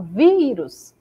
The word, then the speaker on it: vírus: exemplo na palavra vírus quando eu falo vírus a sílaba vi se destaca mais que as outras na palavra condição